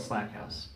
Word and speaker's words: Slackhouse: You know, you spell it exactly the same as my mother-in-law did, and yeah, she pronounced it Slackhouse, so my bad.